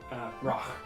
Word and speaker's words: Rache: R-A-C-H-E with a little thing over the A. Yeah, I think I actually knew that because of Sherlock. Yeah, Roch, I think is actually how it's pronounced.